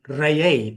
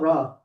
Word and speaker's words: Ra: The Greek rendition of the word Re, or more correctly, Reye. That's how we pronounce it. Reye, and Not Ra. not Ra. The proper tones, frequencies, and vibration will be Reye.